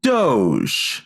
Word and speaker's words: Doge: government start a department of government efficiency or doge named after the meme with the Sheba Inu. I believe it's pronounced doggy.